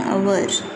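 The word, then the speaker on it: hour: Examples, an आवर, हम हवर नहीं बोलेंगे, एन आवर।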